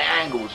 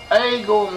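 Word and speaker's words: עגל: Egel means a young bull. Egel in biblical Hebrew could be pronounced, as it still is in some dialects of Hebrew, as angle or close to angle.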